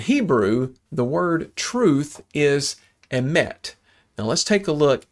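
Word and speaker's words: אמת: It's emet. Okay, Hebrew is written from right to left, and this word emet is spelled Aleph Mem Tav.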